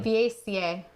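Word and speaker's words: vaca: it like a chicken Baca but it's V is pronounced B in Spanish oh okay all right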